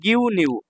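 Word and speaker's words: ぎゅうにゅう: পরে একটা উ আছে যখন এই যে এই যুক্তবর্ণের সাথে এই উ যুক্তবর্ণের সাথে আরেকটা উ থাকবে এই যে ইউ এই এই যুক্তবর্ণের সাথে উ থাকবে উর উচ্চারণটা উজ্জ্ব থাকবে এখানে ঠিক আছে তাহলে গিউ নিউ গিউ নিউ এটাকে কাতাখানায় মিরুকু বলা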